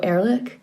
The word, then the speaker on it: Erlich: if i'm going to say his name right ehrlich leandro erlich e-r-l-i-c-h uh he combines in a way like